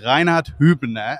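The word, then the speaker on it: Reinhard Hübner: we have here is Reinhard hubner and that's exactly the German pronunciation and he's the CEO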